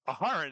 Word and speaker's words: Aharon: I have been corrected. I had the emphasis on the wrong syllables, or I didn't have enough syllables in there to begin with. So Aharon it is.